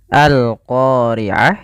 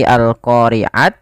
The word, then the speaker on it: القارعة: Kemudian apabila kita waqaf atau berhenti pada huruf ta yang bentuknya seperti ini atau bentuknya seperti ini, maka ketika kita waqaf ini kita ganti dengan huruf ha yang dimatikan. Maka bukan lagi al-qari'at tapi al-qari'ah.